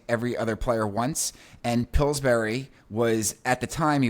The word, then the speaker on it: Pillsbury: I don't know if Yeah, pronounce it. Pillsbury.